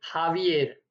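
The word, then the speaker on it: Javier: बे ई ए array हावीर यहां पर ह का साउंड दे रहा है यह वर्ड जो है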